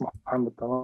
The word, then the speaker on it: Mohamed: you do uh simply stating my name is mamed as you have pronounced it correctly and thank you for this